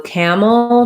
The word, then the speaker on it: camel: the word camel so camel just like acclimated has uh first syllable stress and the a says ah like in black cat so you can think about cat and camel match those two to help you get the vowel correct and then my mole syllable i have a syllabic l so i just go right from the m to the l sound with my tongue the